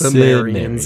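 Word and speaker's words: Cimmerians: Um I liked that the K Chimes I think they're pronounced Samrians in this movie.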